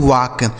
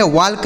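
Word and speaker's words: walk: इसे पढ़ा जाता है दोस्तों वाक। डब्ल्यू ए एल के इसे पढ़ते हैं दोस्तों वाक। ठीक है? वाल्क नहीं पढ़ेंगे।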